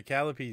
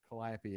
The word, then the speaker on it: Calliope: A Callipy is the musical instrument. Calliope is.